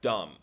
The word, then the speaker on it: dumb: Morons are people who are dumb. Remember, dumb is silent B like this. Dumb.